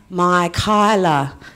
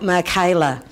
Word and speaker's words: Mikyla: yeah that's her but her name is pronounced my Kyla not Micha networking is also as